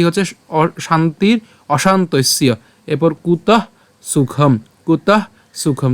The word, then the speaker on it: অশান্তস্য: জফল উচ্চারণটা কার মত হবে ইয়র মত হবে উচ্চারণটা কি হচ্ছে শান্তির অশান্তস্য এরপর কুত সুখম কুত সুখম তাহলে আমি যদি